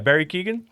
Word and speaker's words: Barry Keoghan: Yeah, Barry Keoghan.